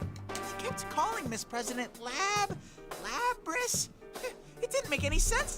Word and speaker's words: Lapras: looking for the mysterious Lapras. Oh, I said it wrong, Lapras.